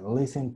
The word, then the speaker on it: listen: La I, acuérdate que no es tan I, es E.